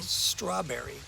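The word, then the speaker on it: สตรอว์เบอร์รี: the flavors let's say strawberry strawberry Strawberry so again it's not the St sound like St it's the S A and another different syllable yeah so yeah the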